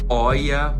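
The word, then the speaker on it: Hoya: Embora sejam semi-suculentas, coexiste bem aqui, ó, com roias. Pronuncia oia, mas eu vou falar roia mesmo.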